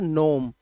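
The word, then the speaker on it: gnome: करोगे तो आप इसे इग्नोम पढ़ोगे। बट you should know that ji before N will be silent in the word. ठीक है? तो इसका मतलब होता है कहावत और इसको बोलते हैं सिर्फ नोम।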